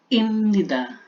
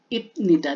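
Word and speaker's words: 입니다: Imnida. Hindi naman siya pwedeng ipnida, di ba? Kasi ang hirap ng bigkasin.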